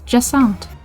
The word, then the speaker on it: Jacinthe: Turns out I've been pronouncing her name wrong. It's Jessant.